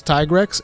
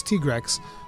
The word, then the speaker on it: Tigrex: you pronounce it like everybody thought it was tigerex and it should be tigerex and then capcom comes out like no it's tigrex i was like what